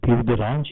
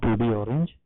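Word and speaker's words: peau d'orange: Actually the pronunciation is PUD orange, it's not PUD orange.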